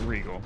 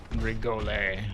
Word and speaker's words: Regole: It's pronounced Regal. Someone on YouTube is like, "How do you pronounce your name? Regal or Regal?" The second one. Regolay? No.